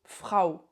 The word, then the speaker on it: Frau: A u comme phrao dit frao la femme par exemple, ça s'écrit au u et ça se prononce comme ao. Frau.